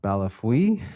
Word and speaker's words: Bellefeuille: an individual named Bellafoil? Or how do I pronounce the name? I'm sorry if I mispronounce it. Yes, Your Honor. I believe it's Balafui, but I know him as